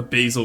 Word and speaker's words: basil: Ae was confused about Basil being an herb. I think uh A was confused about the basil versus basil pronunciation. The French pronounce it as with an a as in apple.